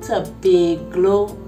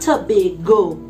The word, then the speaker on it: Tobaglo: makeup today is from to be glow cosmetics yes i said it right not to be go cosmetics to be glow cosmetics get it right i'm so excited because